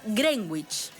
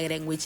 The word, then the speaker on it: Greenwich: la conocimos como Greenwich pero no se no se dice ni se pronuncia Greenwich les voy a enseñar Cómo se pronuncia del Meridiano cómo sería de ahora en adelante no diga más Greenwich es Greenwich bueno en Greenwich es